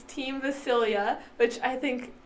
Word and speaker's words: Vasilija: But J in Serbia is pronounced as Y, so it's a Y sound.